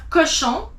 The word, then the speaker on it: cochon: Then you have cochon. CO is co. CH is sh. ON is on.